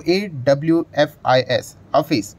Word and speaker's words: Awfis: एडब्ल्यू एफ आई S office तो अभी इसका जो प्रोनाउंस है ऑफिस करके मतलब ऑफिस टाइप का ही हम लोगों को नाम